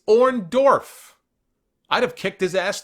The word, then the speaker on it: Orndorff: probably turned on Hogan because Hogan could never say his name the correct way he always called him or Dolph totebag and watching Hulk Hogan promos after Orndorff turned on him keeps calling him orand off he just couldn't he